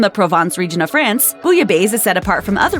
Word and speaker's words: bouillabaisse: The 2 L's combine into a Y sound, as you'll often find in French words when they're preceded by an I, so if you pronounce